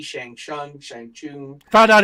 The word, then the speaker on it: Shang-Chi: Shang-Chi, Shang-Chung, Shang-Chun, Found out it's General Tsao, I found out it's pronounced Shang-Chi.